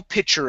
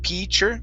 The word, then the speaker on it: pitcher: Okay, a small pitcher of it. Give me a short I sound instead of pitcher.